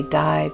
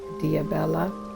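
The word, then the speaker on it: Dibella: Some people just say Di, but it's pronounced Diabella.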